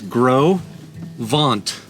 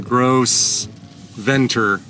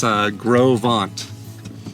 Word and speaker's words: Gros Ventre: They do say, she said it's Gros Ventre. So not how Google's saying Gros Ventre. She said it's Gros Ventre, which was my guess.